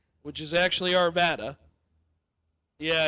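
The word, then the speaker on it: Arvada: Oh, the town of Arvda, which is actually Arvvada. Yeah, it's been mispronounced many times.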